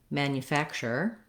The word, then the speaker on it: manufacture: at how to pronounce manufacturer manufacturing and manufacturer so first let's just look at the root word manufacture and we have in this word the stress is on the third syllable fact it's going to